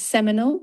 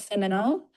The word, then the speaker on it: seminal: It's edutopia, and seminal is seminal, not seminal. Also, it's a dollar more, slight stress on more.